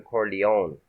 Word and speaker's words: Corleone: They had already Americanized the pronunciation from Corleone to Corleó.